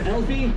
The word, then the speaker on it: Alfie: Anyway, my name is Alfie. It rhymes with selfie, if that's easy for you to remember.